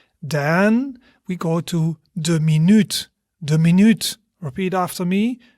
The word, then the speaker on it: minuut: Then when we talk about a minute, the minute, we would say de minuut. De minuut.